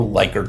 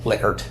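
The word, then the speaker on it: Likert: a liquor scale some people call it a liyer scale but it's actually pronounced liquer believe it or not and use a 1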